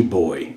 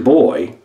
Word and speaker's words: Boh: And finally, this is pretty cool, Baltimore's most famous brew, National Bohemian Beer, otherwise known as Natty Boy, and boy is spelled B-O-H.